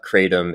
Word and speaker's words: Kratom: big thing is that the American pronunciation, which we've been using, Kratom, is just kind of a bastardization of what the close to what the original pronunciation is. And so I'm going to kind of bastardize the original, but it's closer to Kratom. And so in English, the non-pretentious way of staying close to that true pronunciation is Kratom.